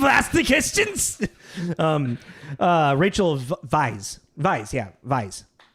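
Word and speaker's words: Weisz: forget uh it's it the W is pronounced with a V like it's like German German we will ask the questions um anyways we've asked the questions um uh Rachel vice vice yeah Vice it's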